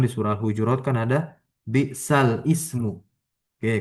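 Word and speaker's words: بئس الاسم: Di dalam Al-Quran di surah Al-Hujurat kan ada bi'sal ismu. Oke, karena tashil jadi bi'sal ismu bacanya.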